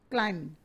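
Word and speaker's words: climbing: Sana is क्लाइंबिंग the mountain, क्लाइंबिंग, इसमें भी B silent है, क्लाइंबिंग।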